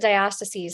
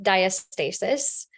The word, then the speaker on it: diastasis: Well, I pronounce it diastases because I'm from the West, but in some parts of the world, it gets pronounced diastasis. Just kind of depends on where you're from.